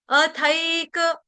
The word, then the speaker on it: अथैक: अथैक अथैक इसको थैक नहीं बोलेंगे।